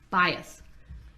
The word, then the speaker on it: bias: There's no T at the end. Bias.